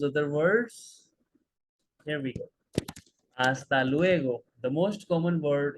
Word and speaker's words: hasta: dios adios and again H is silent hasta luego see you later hasta luego hasta pronto see you soon